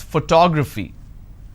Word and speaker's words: photography: i pronounce this as photography how do i pronounce photography and how many syllables do i have here four toe grab fee four syllables but in this case i stress on the second syllable that is what word